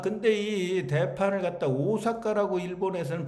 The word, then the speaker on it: 大阪: 이해가 됩니다 이런 것들이 아 근데이 대판을 갖다 오사카라고 일본에서는 발음을 해요 우린 대판이라고 하는데 그래서이 오온은 바로